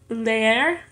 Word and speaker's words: leer: 17 es leer. Leer es en dos sílabas. Leer. Y ambos las sílabas son hiatos porque ambos tienen un vocal.